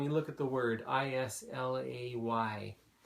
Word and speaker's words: Islay: look at the word is LA why when I first saw that I thought I lay or is laying in fact isla is the connect the correct pronunciation ok let's move on